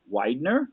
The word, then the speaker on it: Weidner: And tonight we're going to be speaking with Weidner. I pronounced that right, correct?